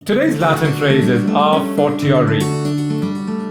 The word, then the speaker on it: a fortiori: Today's Latin phrase is a fortiori. It's also pronounced as a fortiori, which is typically British, and other pronunciations are a fortiori, a fortiori.